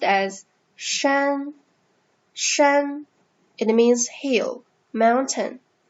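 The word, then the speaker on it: 山: character is like this so this character is pronounced as shen shen it means hill mountain even now you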